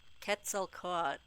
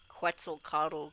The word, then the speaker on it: Quetzalcoatl: this video saying Quetzal ket cell caught not quetzel coddle or whatever the guy